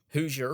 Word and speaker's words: Hoosier: Hoosier rhymes with loser, dislike.